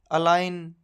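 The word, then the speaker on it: align: अगर जी के बाद एन है तो उसमें जी हमेशा साइलेंट रहता है, जैसे कि साइन, डिज़ाइन, फॉरेन, अलाइन, इन सब में जी के बाद एन है तो जी साइलेंट होगा।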